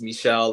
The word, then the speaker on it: Michelle: Yep, it's pronounced Michelle, and good morning, everyone.